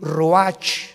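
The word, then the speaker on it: רוח: capítulo y exhaló isaac el racc así como suena se pronuncia la ch en hebreo como j se le salió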